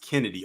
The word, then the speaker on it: Chennedy: Oh, Jonathan said that her name is pronounced Kennedy. Okay, so the CH is silent. Oh, well, CH is K.